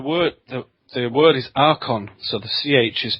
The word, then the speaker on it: archon: is yeah the word the the word is Aron so the CH is pronounced as a okay I'm sorry it's okay